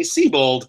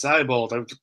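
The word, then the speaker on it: Seibold: not an easy name everyone's always like oh it's Whitney seabold and then you hear it pronouncing like oh it's sybol like at least two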